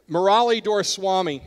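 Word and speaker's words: Murali Doraiswamy: Murali Doraswamy, and that is how you say it.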